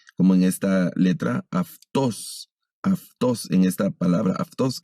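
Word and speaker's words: αὐτός: El sonido de la ipsilon pasa a ser como de F, como el sonido de F, como en esta letra aftos.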